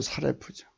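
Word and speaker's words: שָׂרַף: 발음은 사레프죠. 우리말 구음에 사르다와 비슷합니다.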